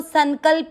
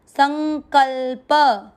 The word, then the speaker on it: संकल्प: देखो संकल्प ऐसे नहीं बोला, आधा न को नाक से पढ़ना है, संग, संकल, संकल्प।